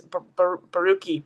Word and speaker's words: Borucki: I pronounce his name cuz there's there's a Hebrew prayer that goes like Baruch Hashem Adonai and then I always pronounce it like the Baruch, but it's Barucki Barucki.